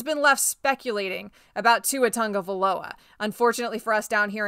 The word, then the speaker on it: Tagovailoa: the Miami media, but you pronounce it Tagovailoa. That's how you say it. I guess it's a Hawaiian thing.